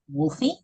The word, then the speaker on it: Wolfie: It is spelled with an E, although I've been pronouncing it just Wolf.